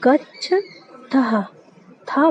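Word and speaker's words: गच्छथः: तो गच्छ था बोलना है, इसके साथ हा का उच्चारण निकलना चाहिए ना।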